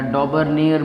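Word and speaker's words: Döbereiner: Okay, तो सबसे पहले जो साइंटिस्ट थे वो थे डॉबरेनर या डॉबरनेयर भी इन्हें कभी कभार प्रोनाउंस करते हैं।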